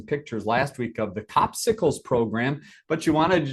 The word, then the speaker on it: Copsicle: They can go on there and they should check that regularly to see when the next Copsicle, and I'm not mispronouncing that. It's not popsicles, it's Copsicles.